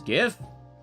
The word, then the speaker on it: GIF: It's the pronunciation of like a file. Two, it's definitely GIF. gift. The guy who made it says different, but he's a nerd and not a linguist.